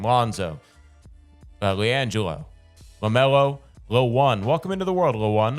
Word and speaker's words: LaOne: January, a son named LaOne. LaMelo's son is LaOne. What? LaOne. O-N-E, sure. like the number, but it's spelled out LaOne.